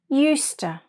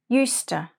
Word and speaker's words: used to: to my ex-boyfriend's stupid jokes let's practice our pronunciation repeat after me eusta yuster I used to walk to school I used